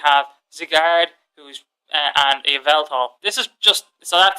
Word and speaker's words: Yveltal: possibly have, because Yveltal's Yveltal, that's how it's pronounced, Yveltal.